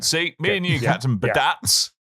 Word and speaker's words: Badats: See, me and you, Captain Badats. Pronounce his name right, Coleman. Thank you very much. I did, didn't I? Yeah, you said Badats. Badats is, it's a hard Badats.